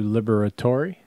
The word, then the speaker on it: Liberatore: Matthew Liberatore.